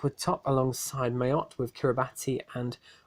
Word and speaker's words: Kiribati: In Group C, Martinique were top alongside Mayotte, with Kiribati and it's Kiribati is how you actually pronounce it, and Northern Mariana in fourth.